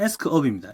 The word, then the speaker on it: Ask Up: 자 여기 검색 누르시고 가수급이 한글 발음이죠 그래서 원래는 영어로는 에스크업입니다 ask 업 치시면 여기